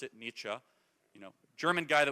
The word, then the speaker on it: Nietzsche: question expand Beyond Nietzsche just learn how to pronounce it Nietzsche you know German guy that was right about